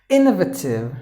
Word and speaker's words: innovative: And the 10th word is innovative. So double N, one N is gone because 2 consonants. So innovative. Letter E is also silent.